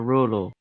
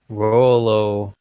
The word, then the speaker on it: Rolo: Would I pronounce your first name Rollo or Rolo? Rolo. Rolo. like the chocolate.